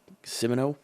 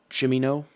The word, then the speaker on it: Cimino: Though Michael Cimino, Cimino, that's the director. Not exactly sure how to pronounce that. But Cimino.